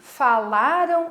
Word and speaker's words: falaram: As palavras que terminaram em AM, falaram, são paroxítonas, porque a segunda sílaba de trás para frente, né? A penúltima é a sílaba forte, a sílaba tônica.